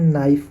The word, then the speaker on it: knife: हम नॉक कहते हैं, KNIFE, इसे हम नाइफ बोलते हैं।